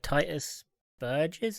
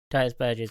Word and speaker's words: Titus Burgess: thing as well yeah the best song uh Titus verges so you pronounce his name Titus Burgess does a version of it and it's incredible